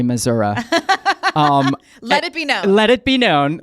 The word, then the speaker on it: Missouri: thing on this podcast we're going to pronounce Missouri mazura um let it be